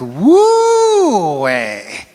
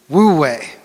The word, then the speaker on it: Wu Wei: It's fun to say it like Wu Wei. Wu Wei.